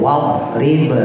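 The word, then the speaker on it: اضرب: itu do itu bu wadrib lahum wadrib lahum matalan ashabal qarah kan ada tuh di yasin Ya, itu do bukan dal bukan wad rib.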